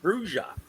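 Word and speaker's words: Brujah: It says clearly in the first edition book, under the pronunciation, it's pronounced Bruja.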